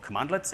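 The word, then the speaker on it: cmdlets: we start Powershell comprises these things called commandlets and yes it actually is spelled CMD lets and they kind of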